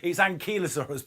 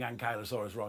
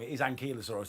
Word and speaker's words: Ankylosaurus: know I always I I always say the Ankylosaurus differently every time I think if we look it up it's ankylosaurus but you know it you know it's horses for courses because pronunciations and accents are all the rest kick